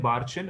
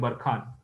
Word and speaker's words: barchan: तो अगर ऐसा शेप लिया ना, तो इसको बोलते हैं बार्चन और इसको बोलते हैं बरखान। दोनों प्रोनाउंसिएशन राइट है, वन is called as बार्चन एंड वन is called as बरखान।